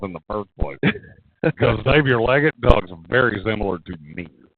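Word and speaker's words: Xavier Legette: his name is not zavier Le if it is he mispronounces his own name I I don't care what it says in the pronunciation G his name is Xavier leg okay uh and then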